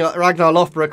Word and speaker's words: Ragnar Lothbrok: as any child of ragnar loft brook uh conquer all of the british isles i know i'm pronouncing ragnar lothbrok politely right because of all the tv shows so obviously we are